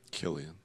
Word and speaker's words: Cillian: Killian. I say it. I'm American. I speak American. I'm with you. I was corrected. I thought it was Killian. I like saying Cillian.